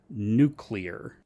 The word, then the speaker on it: nuclear: L comes or the the L comes before the U in the word I thought that was